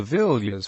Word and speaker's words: Villiers: the Villas family pronounced V is one of England's eminent aristocratic